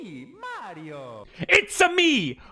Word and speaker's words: Mario: It's me, Mario. It's-a me, Mario! He says his own name in the game. How could you keep saying it like that?